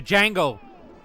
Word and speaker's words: Django: The Django. The D is silent.